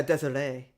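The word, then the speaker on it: Desirée: Well, yeah, but according to, I guess it's Desiree, that's how you pronounce it? Oh yeah, Desiree.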